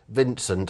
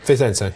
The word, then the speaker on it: Vicente: Vincent, I think it's pronounced, was second, of course, last Saturday in the Persian... Pezenti, sorry. Vicente. Yeah.